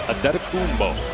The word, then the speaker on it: Adetokounmpo: Pronunciation guide in the Milwaukee game notes. It is Adetokounmpo.